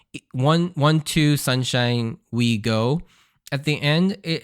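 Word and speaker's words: 五: with we go and the number five in Japanese is pronounced go so it's literally counting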